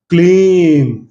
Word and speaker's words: क्लीम: जो जो लोग आई डाल रहे हैं ना, आई क्लिम, वो सारा गलत कर रहे हैं।